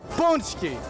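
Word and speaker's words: pączki: Punchki.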